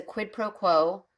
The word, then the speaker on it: quid pro quo: one hand I know that this is a quidd proquo oh I said it right I usually can't